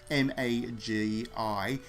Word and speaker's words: Magi: want to pronounce it m a g i I call it Magi uh like the noodles in Australia and you got to